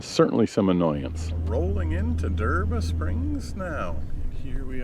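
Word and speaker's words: Durba: some annoyance rolling into derba Springs now and here we are at derba Spring which apparently spelled or pronounced gerba but I have never heard anybody call it gerba well here we are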